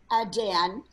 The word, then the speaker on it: Dan: Looking at this, they were below Dan, or Don, however you want to pronounce Dan.